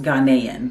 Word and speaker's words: Ghanaian: Okay, so I'm back and it's pronounced Ghanaian. So she is from Ghana, her and her family, and they're Ghanaian.